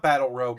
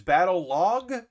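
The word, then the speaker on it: Battlog: calling it battle log it's spelled b-a-t-t-l-o-g so uh it should be like like it almost wants to be battle rogue uh but it's not battle rogue it's battle log but there's a e-u-e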